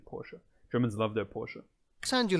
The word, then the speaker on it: Porsche: uh and porsche yeah that's that's how you actually say it in german by the way you say porsche i know in gym in english they always say porsche but in german it's actually porsche germans love their porsche